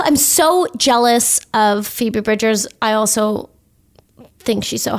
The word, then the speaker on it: Bridgers: describe what who Phoebe Bridges is you're also saying her name wrong Phoebe Bridgers okay and who exactly what